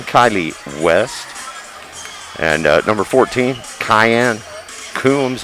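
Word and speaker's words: Kheyenne: And number 14, Cayenne Coombs. It's spelled just like it had a C, but on my roster it has a K.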